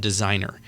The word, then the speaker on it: Designrr: But I think one of the best ways to generate leads would be, for an example, there's a tool called Designer, and it's spelled weird. It's DESIGNRR, but it.